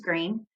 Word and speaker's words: Greene: green that's green with a silent e at the end discovered that they were